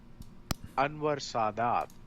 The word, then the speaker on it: Anwar Sadat: Anwar Sadat. Anwar Sadat. Okay. The only way I pronounce Middle Eastern things, I just try to put the emphasis on the last part of the Anwar Sadat had signaled